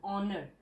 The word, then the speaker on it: honor: not sounded with edge like an honor h is silence there you can see